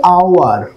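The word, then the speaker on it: hour: অর্থাৎ কি বললাম, আমি লিখলাম যে এইচ ও ইউ আর, এর উচ্চারণটা হচ্ছে আওয়ার।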